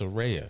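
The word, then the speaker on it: Saraya: She said it's pronounced Serea. She she she made it clear.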